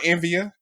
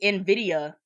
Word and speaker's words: Nvidia: all right keep going Envia it's in video that's that's how you say it anyways video that's what